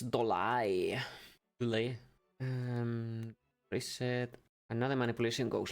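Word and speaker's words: Dollet: Hey, it rhymes with Dornov. Does it? It's Dolai.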